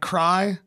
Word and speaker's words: Kraai: Again, my name's Kraai. That's spelled Kraai. Sounds like cry.